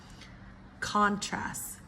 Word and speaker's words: contrast: Nouns typically first syllable, verbs second syllable, okay?